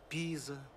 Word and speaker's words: Пиза: В этом слове лучше ударение ставить на первый слог. Пиза, в Пизе, о Пизе.